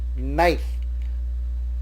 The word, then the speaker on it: knife: The alphabet K in knife is not spoken, it is silent, so we call it knife.